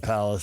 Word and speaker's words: Palos: It's PALOS. I know it's OS. VERDES.